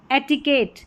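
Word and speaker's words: etiquette: तो देखिए ये हो गया कैसेट, कैसेट, एट, एट करके उच्चारण। Cigarette, cigarette, eight. एटिकेट, एटिकेट, एटिकेट।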